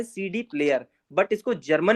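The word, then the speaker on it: CD-Player: ये लिखा है सीडी प्लेयर, बट इसको जर्मन में प्रोनाउंस कैसे करना है, से डे प्लेयर, से डे प्लेयर।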